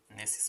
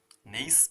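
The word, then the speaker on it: gneiss: इसमें जी साइलेंट है, नेसिस में, नेइस भी बोलते हैं इसको, में कन्वर्ट हो जाएगा।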